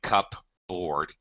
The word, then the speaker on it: cupboard: you don't hear the you don't hear the P at all yes let me again